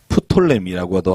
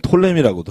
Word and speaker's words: 프톨레미: 프톨레미라고도 하고, 피를 묵음으로 하면 톨레미라고도 하고, 이 두 왕국이 서로 이 지역을 이겼다 졌다 이겼다 졌다.